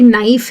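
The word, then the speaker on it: knife: क कहते हैं, लेकिन अगर कहीं पे के एन है, जैसे कि नाइफ है या नॉक है या नो है, तो उनमें हम के को कर देते हैं साइलेंट।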